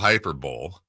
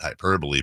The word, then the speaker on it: hyperbole: And I'm not a big fan of the old Hyper Bowl, not to be confused with the Super Bowl. Some people pronounce it hyperbole, but I can't help